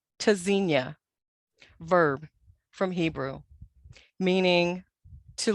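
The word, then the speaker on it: Tzynya: Pronounced Tazinia, verb from Hebrew, meaning to listen for or hear. Spelled T-Z-Y-N-Y-A. The first letter T is a hard stop, disrupts airflow.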